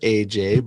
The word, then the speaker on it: Ajaye: tell us about the story of your name, because it is pronounced AJ, but you know, t- It's spelled out.